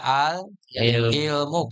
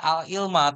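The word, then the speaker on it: العلمُ: Dibacanya gimana? Al-ilmu. Dibaca al-ilmu. Kenapa dibaca al-ilmu? Tidak al-ilma atau al-ilmi? Karena menjadi mubtada.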